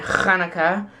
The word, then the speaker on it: Hanukkah: box and set the Hanukkah decorations and yes from now on I'm going to the sound instead of an H that's how it's supposed to be pronounced I love the irony